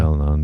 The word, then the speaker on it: Al-Anon: Yeah, Al-Anon meeting.